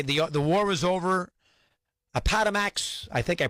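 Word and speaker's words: Appomattox: He asked the grants, begged them, you know, they the the war was over aamax. I think I pronounced it right. Appamatics.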